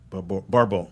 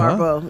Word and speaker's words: Barbeau: Barbeau. I think that's how you pronounce it. Barbeau. Yeah. Barbeau.